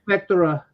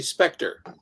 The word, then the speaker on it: Spectre: Spectra. Spectra? Yeah. It's actually Spectre. Spectre. Okay. Yeah, it's just kind of like the British spelling. They're weird. Spectre. That one's a great one. Theatre. I like that. Spectre.